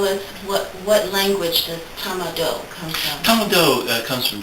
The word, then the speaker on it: Tama-Do: yeah the modality that i use is called tama do it's spelled t a m a d o it